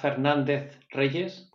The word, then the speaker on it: Fernandez-Reyes: uh I think that was right H Fernandez Rees but actually is really the nickname so